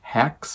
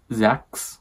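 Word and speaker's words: Xhex: You have Lover Mine, which is John Matthew and Hex, which I, for some reason, always thought it was not pronounced Hex. It was Zex, you know, the X,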